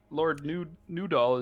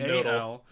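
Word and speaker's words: Nudal: I got Lord Newdoll is just Newdoll. And I it's spelled it- N-U-D-A-L. I spelled it noodle. I didn't say Mine's noodle. noodle. I said new doll.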